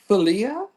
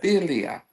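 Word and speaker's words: philia: How do you pronounce P H I L I A? It don't know my voice. Filia. That's what it says. Filia.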